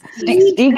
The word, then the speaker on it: Stig: I've heard people say Stig. I I don't know what the correct Stig Stig is. Stig is actually correct. Stig is correct.